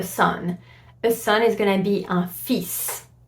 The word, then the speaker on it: fils: A son is gonna be un fils. So you would have to pronounce the S here, for example, at the end, which is very confusing.